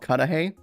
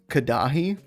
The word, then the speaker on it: Cudahy: There's a town near me called it's called Cudahy, but it's spelled Cudahy. And I swear, when I first read it, I thought it was Cudahy.